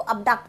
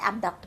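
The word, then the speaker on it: abduct: इसको अबडक्ट भी बोल सकते हैं, एबडक्ट भी बोल सकते हैं, दोनों प्रोनाउंसिएशन करेक्ट हैं बिल्कुल, ठीक है.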